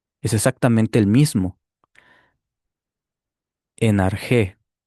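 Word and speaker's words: ἀρχή: Arjí o arjé, según la pronunciación que tengas. Aquí está, mira. Es exactamente el mismo. En arjé o en arjí.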